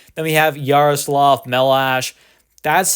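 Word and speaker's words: Chmelař: but it is pronounced melash there yaroslav melash it's a Czech Republic name or a Czech your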